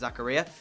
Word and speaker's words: Zakaria: like the likes of Zakaria, because I did see a comment, that's how you pronounce it, Zakaria, I would actually potentially let them go.